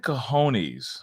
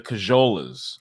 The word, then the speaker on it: cojones: the set of cojones or the cajolas. Okay, I like to mispronounce it.